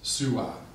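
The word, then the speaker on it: swā: from Old English Su the double U's were ligatured vowels then pronounced U so it's sua but can you guess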